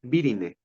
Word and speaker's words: virinae: La subfamilia va a tener un sufijo que termine en virine, o bueno, así como deletreado letra por letra, virinae. Pero acuérdense, siempre que hay una AE, no se pronuncia la A.